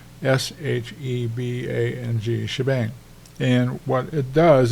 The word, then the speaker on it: shebang: be able to say the combination of these two is called a shabang sh for Sharp bang for exclamation point s h e b a n g shebang and what it